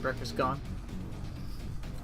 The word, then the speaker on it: Breakfastgun: That's the proper pronunciation, Breakfastgun.